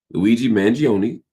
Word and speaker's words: Luigi Mangione: Luigi Manion, to say his name properly, Luigi Manion could be put to death for guning down United Healthcare CEO Brian Thompson.